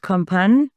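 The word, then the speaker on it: Kompanj: But the largest crag in Istria is called Companj. So the J is silent. Companj has the largest amount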